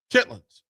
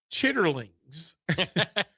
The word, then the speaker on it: chitlins: Now, proper vernacular, proper way to say this from family and in the culture. Chitlins. And I once said that on air, and somebody said, well, I can't find chitlins. Chitterlings is the formal, but chitlins.